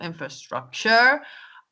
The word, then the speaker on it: infrastructure: what we have um we often have um the word stress on the wrong syllable infrastructure or infrastructure see there's